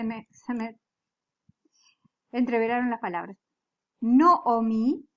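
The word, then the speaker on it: נָעֳמִי: entr velaron las palabras noomi es tiene un catatan catatan que se pronuncia como una O es un kamat pero se pronuncia como una no omi entonces besem isto y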